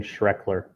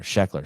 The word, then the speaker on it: Sheckler: And his brother, uh, Shane Shreker will be skating with the boys. What's his name? Am I saying it wrong? Saying Shrekler. Oh, Shrekler. Sheckler. Sorry.